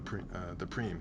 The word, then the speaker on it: prime: Well, that's what made me lose the preem rather. Prime. Did I say prime? Preem. Spelled prime, pronounced preem.